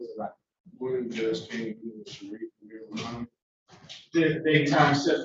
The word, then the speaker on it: Sharif: It's pronounced Sharif, but it's a typo when I was in the hospital. They misspelled my name. It's pronounced Sharif. Sharif.